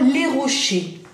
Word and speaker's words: rochers: Rocher, che, importante, ese final no la pronunciamos, que como yo dije, como la T en départ, ¿ya?